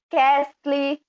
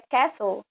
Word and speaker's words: castle: E esse castelo em inglês, às vezes a gente lê castle, né? A linha amarelinha ali, depois de my. Mas a pronúncia é castle.